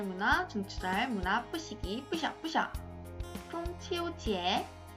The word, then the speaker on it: 中秋节: 중국의 추석, 중추절을 중국어로 하면 퐁치오지에 라고 발음을 하죠.